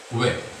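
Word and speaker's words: 왜: Wae namanya wae, tapi dibacanya we.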